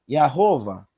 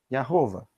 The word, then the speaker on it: Yahová: A primeira sílaba é Iá. Eu mostrei ontem à noite. As restantes estão aqui no texto. Rová, Yahová. Yahová.